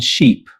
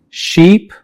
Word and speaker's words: sheep: Another common pair is ship and sheep. Ship. Ship. Sheep. Sheep. Ship is pronounced with a short vowel e while sheep uses the long vowel e.